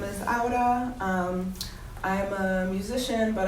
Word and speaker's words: Aura: was nice yeah yeah say it again it's Auda um I feel like you know it's a